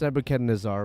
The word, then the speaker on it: Nebuchadnezzar: Well, I it's pronounced Nebuchadnezzar, but I I think it I I like to say Nebu Chad Nazar because he's a Chad. Um, but I'm pretty sure the first pronunciation is correct.